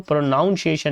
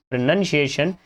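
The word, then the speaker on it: pronunciation: जो वर्ड है प्रोनंसिएशन इसको प्रोनाउंस एशन नहीं पढ़ेंगे क्या पढ़ेंगे प्रोनंसिएशन इसमें से ओ को एलिमिनेट कर दोगे और जिसका मतलब क्या होता है उच्चारण option number one will be our final answer ध्यान रखना ना प्रोनाउंस एशन नहीं होता प्रोनंसिएशन होता है लेट्स सी क्वेश्चन नंबर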